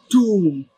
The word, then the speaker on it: tomb: This word you're looking at here, the B is silent and it goes like tomb.